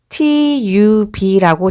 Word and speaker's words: tub: 예를 들어서 설명하면 여기에 TUB라고 적힌 단어는 T는 T, U는 B는 B 해서 tub라고 읽고요.